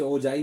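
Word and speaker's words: ogive: और फिर आता है ओगिव जिसे ओजाई भी बोलते हैं ओजा भी प्रोनाउंस कर सकते हैं प्रोनाउंस कर सकते हैं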